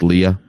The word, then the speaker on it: Leia: So yeah, I really it's pronounced Leia.